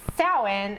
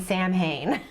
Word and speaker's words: Samhain: And on the board it says Samhain, and it's driving me crazy that Donald Pleasance keeps saying Samhain. And it's not pronounced Samhain, but whatever.